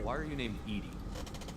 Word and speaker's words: EDI: Why are you named Edy? EDI is the phonetic pronunciation of EDI. That is an acronym for enhanced defense intelligence.